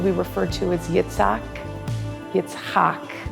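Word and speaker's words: Yitzchak: Yetsak is actually the correct pronunciation will walk out of Shul that day as his own Jewish man.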